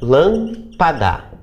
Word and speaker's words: lâmpada: penúltima certo e proparoxítonas quando a anti-penúltima sílaba é a tônica lampada certo uma pergunta que